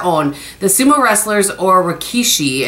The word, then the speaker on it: rikishi: The sumo wrestlers, or rikishi, I think is how you say that, on this year's lucky bags are said to bring good luck and fortune.